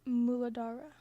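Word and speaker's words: Mūlādhāra: Um the way to pronounce this in Sanskrit, the root chakra in Sanskrit, it is muladara.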